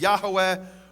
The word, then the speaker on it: Yahweh: In fact, it says there in the Hebrew, Yud He Vav He, which I pronounce as Yehovah, others pronounce as Yahweh or Yahweh.